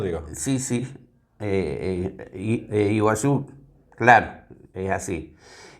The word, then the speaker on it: Iguazú: Por ejemplo, iguazú. Nosotros decimos las catrata del iguazú. En realidad i no es i, sino es una un sonido cultural que significa agua. Guazú es grande, o sea, las cataratas de agua grande.